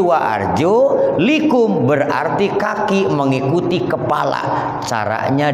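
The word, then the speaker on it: وَأَرْجُلِكُمْ: Macanya tidak wa arjulakum, tapi wa arjulikum, berarti kaki mengikuti kepala.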